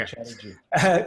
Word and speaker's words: Chatterji: And so Vish Chatterji, am I pronouncing your last name right? Yeah, perfect. Okay. Chatterji.